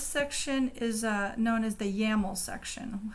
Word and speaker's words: YAML: this section this section is known as the ya mole section how do you spell that I'm going to just it's YAML if